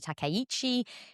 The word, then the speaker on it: Takaichi: So, a first female prime minister, Sanae Takaichi, uh has called a snap election. Good pronunciation.